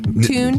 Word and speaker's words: Thune: Tune. You pronounce Nick perfectly.